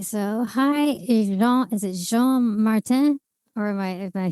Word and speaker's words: Jean-Martin: Is it Jean-Martin?